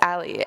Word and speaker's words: a11y: the screen right now and this is pronounced this alley and you might be